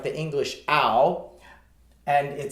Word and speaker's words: ao: This last pinyin word in the A category is the word ow. It's like the English ow, like ow, that hurt.